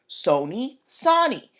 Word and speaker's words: Sony: So they're like, Sony's a long O, we're a short O. Sony, Sony.